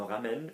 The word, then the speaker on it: ramènent: Notice the silent ENT because they're doing something.